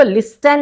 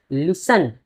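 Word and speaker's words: listen: जी हां, इसको लिस्टेन नहीं पढ़ते हैं। कभी-कभी कुछ स्टूडेंट्स इसको लिस्टेन पढ़ देते हैं। यहां पर ये टी साइलेंट हो जाता है और इसको हम लोग प्रोनाउंस करते हैं लिसन।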